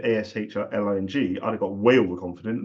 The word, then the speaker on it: Aisling: So you spell it Aisling. That's the best way of spelling Ashley. That's my joke. Okay, so I didn't say it fluently because I'm getting used to the spelling and the pronunciation of Ashling.